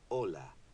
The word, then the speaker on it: hola: you notice that although Ola starts with the letter H it is not pronounced the letter H is always silent in Spanish the basic course is